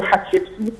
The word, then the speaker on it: Hatshepsut: un peu différente, c'est-à-dire le nom de Hatshepsut ne s'écrit pas avec un H-A-T, non, il y a un mot, un signe qui se prononce Hat. Shepsut, Shepet, c'est un signe qui se prononce Shepet, et ainsi de suite.